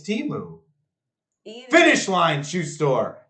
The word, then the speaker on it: Temu: It's Timu.